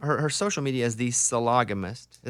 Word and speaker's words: sologamist: actually her instagram her social media is the solagamist is how you say it sologamous sophie loganist